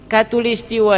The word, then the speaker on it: khatulistiwa: khatulistiwa I am jadi khatulistiwa itu bahasa Arab ya dari kata hot tool istiwa Hai Evy karena Va pengucapan di negeri kita Mungkin berat mengatakan khottul istiwa' maka kyaknya dibacanya k bukan khod nih Kai jadi katulis khatulistiwa